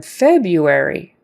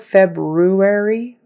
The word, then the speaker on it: February: January January and then February like it's spelled February but people say it February you why you kind of sound February we are poised to